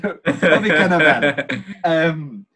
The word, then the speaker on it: Bobby Cannavale: Oh, is that how you've pronounced it? I didn't want to correct you, but Bobby Cannavale.